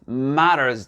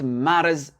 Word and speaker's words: matters: Ici, par exemple, si vous dites It matters to me, d'accord? N'oubliez pas ici le double T qui devient D et le S.